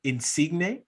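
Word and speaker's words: Insigne: if i'm slaughtering this guy's name uh lorenzo insignia did i say it right dave yeah it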